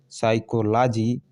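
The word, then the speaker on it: psychology: पहले पी है स्टार्टिंग में तो ये पी साइलेंट है, नहीं पढ़ा गया है, बल्कि एस से स्टार्ट हुआ है, साइकोलॉजी।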